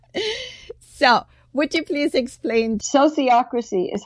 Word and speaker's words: sociocracy: what is this so would you please explain sociocracy is how you say it Gerard herard inden